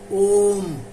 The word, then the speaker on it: ओम: अ उ म ये तीनों के मिलके शॉर्टकट नाम होता है ओम औ म ओम इसीलिए संसार में एक ओम के उच्चारण करने से तीनों के उच्चारण हो जाता है।